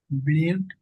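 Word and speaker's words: build: আনতে কষ্ট হয় হ্যা এটা একটু দেখে নিবেন বিলড নির্মাণ করা বিল আমরা যকম বলি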